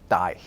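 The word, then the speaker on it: dæg: It has a G at the end, although it was actually pronounced more like a Y. It was something like die.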